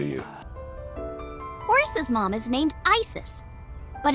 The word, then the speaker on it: Isis: Horse's mom is named Isis, but in ancient Egyptian, it's pronounced closer to Iset or Aset.